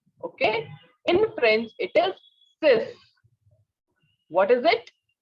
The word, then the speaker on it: six: we have six so here it is written s i x you may pronounce it as six no be careful sex is in english okay in french it is cis what is it sis okay next one is seven so it is